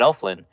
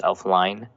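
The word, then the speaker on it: Elflein: Nick Easton's listed ahead of Pat Elflin. And I'm going to keep on pronouncing Pat Elflin's name wrong. I think it's Elfline, but I like saying Elflin.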